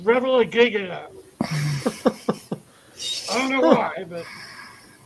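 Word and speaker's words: Revillagigedo: places with this name, in some places in the world it's pronounced Revilla Gigata. But in Alaska, it's pronounced Revilla Gigata.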